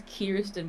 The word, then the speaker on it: Kirsten: you want to go that is not my name sir you pronounced it wrong what Kirsten yeah oh Zoe Zoe sorry no my my name my first name is kisten but everyone just I